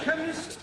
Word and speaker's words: chemist: blimey k e n chemist does not begin with a k it sounds like it begins with k c h but that is making it chemist no the ch is pronounced k ah now i'm understanding